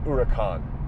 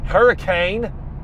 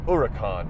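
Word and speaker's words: Huracán: Yes, it's pronounced Huracan, not hurricane or hurricane. It's pronounced Huracan, if you want to say it correctly.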